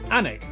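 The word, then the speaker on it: Alnwick: in quernmore quarma before finishing up in alwick anik which is near Newcastle the people from the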